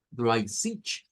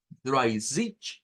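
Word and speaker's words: dreißig: sonido que vemos acá es como una s, como una es algo que está entre una ch, una ch, una cha y una sha, una sh. Es algo intermedio.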